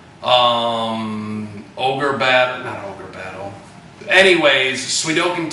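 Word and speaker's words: Suikoden: was able to get uh once again pronounced pronunciations weird uh swedokin that's how it's supposed to be pronounced we're talking to Sudoku uh Strider to um ogre bad Channel anyways swedokin 2 was one of the main things try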